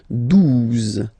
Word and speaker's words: douze: exist phonetically, onze, okay, douze, douze, O, U, the two together will give you the sound OO, okay, and then Z, douze, douze, alright.